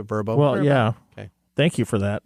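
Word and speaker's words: Vrbo: to say there OD it's pronounced verbo vbo yeah is it verbo yeah thank you for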